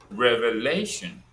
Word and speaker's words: revelation: Revelation, Le is stressed.